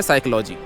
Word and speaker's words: psychology: तो लिखा क्यों था जैसे कि एक शब्द है PSYCHOLOGY इसकी स्पेलिंग शुरू होती है पी से लेकिन पी को बोला नहीं जाता तो भाई अगर बोलना